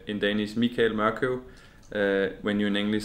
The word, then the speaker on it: Morkøv: So my name is Morkøv. But actually, like when you say in Danish Michael Morkøv, when you in English say Michael, I think it's suitable more to say Morkøv.